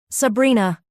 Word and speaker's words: Sabrina: Sabrina. Sabrina. He said it with the Sicilian pronunciation, rolling the R, making it sound like a caress.